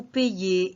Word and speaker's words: paye: Nous payons, vous payez, il y paie. Ce qui va changer, c'est la prononciation. Je paie, ça veut dire P-A-I-E. Je paye, P-A-Y-E.